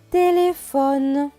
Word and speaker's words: téléphone: cela donne les paies et hph se prononcent feu avec le haut cela donne faux n -e ne donc ce mot va se lire tes des faux ne télé sans téléphone le téléphone très bien maintenant on